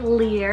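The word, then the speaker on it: Lir: the word sand lear spell l i r lear it's the irish god of the sea then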